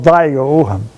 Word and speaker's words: Vigo: Someone called it Vigo, but I don't spell it with an E, it's spelled with an I, and I go by that. You'll hear me call it Vigo.